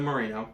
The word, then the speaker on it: Moreno: It's Moreno, right? Am I saying it right? Yeah. It's Rita Moreno.